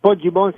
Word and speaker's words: Poggibonsi: Is it Poggibonsi? Is that, how do you pronounce it, the village that you're from? Yes, Poggibonsi is correct.